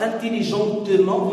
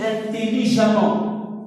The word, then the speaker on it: intelligemment: Intelligent, intelligente, mais on ne dit pas intelligentement, on dit intelligemment. E2M, ENT, mais on le prononce intelligemment, intelligemment. Constant, constante, on ne dit pas constantement, on dit constamment, A-M-2-M.